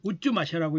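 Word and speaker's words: 太秦: 이름에도 이것이 남아 있는데 이게 여기에 어떻게 읽냐고 돼 있냐면 우쭈마샤라고 읽는데 이 유래가 여기 있네요. 실크로드에서 사용했던 아람이죠. 예수님도 아람어를 쓰셨죠. 그러니까 시리아 말이죠. 그래서 예수 그리스도를 의미한다고 합니다. 이 우쭈마샤라고 태진이라고 쓰고 우쭈마샤라고 읽는 거죠.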